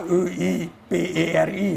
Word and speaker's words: Kuiperi: E ora que na Aruba não escuta a fam Kiperi, me pergunta é certa maneira para pronunciar a fam? Não, morta Kuiperi, não? Kuiperi. Sim, é Kuiperi.